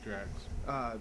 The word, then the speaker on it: Drax: Yeah, Drax.